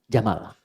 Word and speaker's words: Jamal: jantan maka namanya Jamal saya notis ya pendek bacanya Jamal bukan jam jamalun unta Jamal ganteng